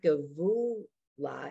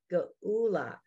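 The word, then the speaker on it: גאולה: So it's not give, it's not gavula, it's gaula.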